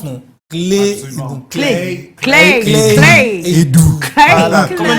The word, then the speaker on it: Claye Edou: Voilà, c'est comme ça que ça se prononce, non? Clé Edou.